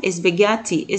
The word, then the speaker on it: spaghetti: طبعا بقول لنا حرف الاتش هنا مش بتنطق، بقول هنا spaghetti.